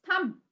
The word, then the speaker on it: thumb: pronouncing the alphabet b just leave out the b and pronounce the rest of the alphabets it's thumb can you also see